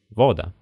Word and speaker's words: вода: Итак для ударных гласных есть четыре варианта долгий восходящий глава короткий восходящий вода долгий нисходящий сунце и короткий нисходящий песма сейчас большинство носителей не